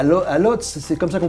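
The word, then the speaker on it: Łódź: des grandes marques de couture, à Varsovie, à Lodz, c'est comme ça qu'on prononce. Lodz, oui, ouais, donc ça.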